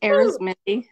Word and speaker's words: Ari: your last name you did it right it's AR okay yeah perfect um Amy is an author